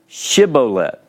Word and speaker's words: Shibboleth: Now, in this particular story in Judges chapter 12, verse 6, you have with the sheen on the front, you're saying this is an SH sound, Shibboleth.